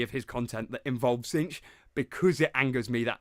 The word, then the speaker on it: Tzeentch: I said Zinc on accident. No, it is. I hated myself for that. Tzeentch is how it's pronounced.